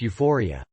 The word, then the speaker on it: U4IA: It was a real party at a gay bar called U4IA, pronounced Euphoria.